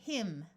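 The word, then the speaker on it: hymn: so we have cyst MN at the end of a word will have a silent n so this word is him th will use its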